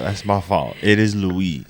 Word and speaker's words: Louis: One of our commentators was like, the S is silent. Yeah, I noticed that. I was like, damn, bruh, I kind of messed that up. That's my fault. It is Louis.